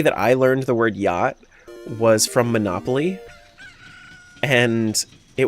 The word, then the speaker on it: Yacht: In German, we write yacht the same, but we pronounce all the letters.